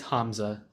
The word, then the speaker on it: Hamza: sorry about that yeah it's you're good it's Hamza yeah but yeah nevertheless thank you so much